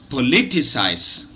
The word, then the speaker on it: politicise: this word has got this word has got four syllables and it is pronounced in standard british english like this politicize politicize politicize politicize let